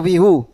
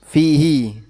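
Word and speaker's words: فِيهِ: Fihi atau fihu? Fihi.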